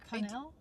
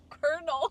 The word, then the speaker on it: Colonel: Um, but when Lieutenant Conell Colonel Colonel, where's the R? That's how it's spelled.